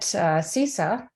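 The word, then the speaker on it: CSSSA: So fast forward through many loops in my life, I am now leading interdisciplinary workshops at CISA. That's how we pronounce this.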